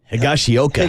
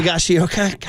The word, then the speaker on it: Higashioka: so Kyle Higa Higa higashioka higashioka it rhymes with home run stroke it's a tongue twister